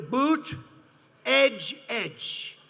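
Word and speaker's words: Buttigieg: touch and they said here's what you do boot edge edge say edge like the edge of a building edge edge who that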